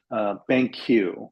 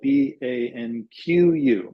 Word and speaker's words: BanQu: I'll give you one example of a company I really, really think they're doing some really interesting stuff, and it's called BanQ, which is spelled BANQU, BanQ.